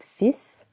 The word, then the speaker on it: fils: With the word fils, we don't pronounce the letter L.